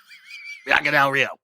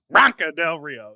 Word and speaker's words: Bianca Del Rio: Bianca Del Rio. Bop, bop, bop. Bitch, I hate you. You said Branca Del Rio. You said her name in 2 syllables.